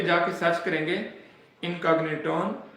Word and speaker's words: Incogniton: इनकॉग्निटन, spelling note कर लें, हो सकता है मेरी इंग्लिश कमजोर है, मुझे पढ़ना ना है।